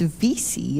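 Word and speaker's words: Veasey: Vesey, and it's Vesey, isn't it? That is correct, Madam Chair.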